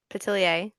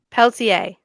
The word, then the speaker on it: Peltier: But there's no T at the beginning of it. Peltier.